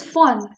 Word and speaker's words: von: It is not von or won, it is von. V is pronounced as for in German.